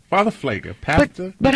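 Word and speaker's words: Pfleger: Father Flager. Pastor. But how do you guys address We call him him? Pastor Flager.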